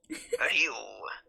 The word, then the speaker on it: Ryu: This is gonna be so funny because you say Ryu, I say Rui because I can't read. She can read and she can retcon her mistakes. If she reads Rui once, she's gonna do it.